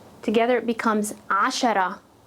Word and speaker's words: عشرة: Together it becomes ashara, ashara.